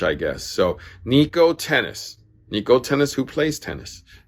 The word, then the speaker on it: Htenas: name is actually pronounced tennis it's an ht starting uh last name but it's tennis silent h i guess so nico tennis niko tennis who plays